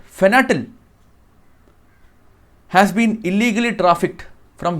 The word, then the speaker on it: fentanyl: So according to Trump says that from Venezuela, a drug called fentanyl has been illegally trafficked from Venezuela to USA, and this Nicolas Maduro is promoting and funding it.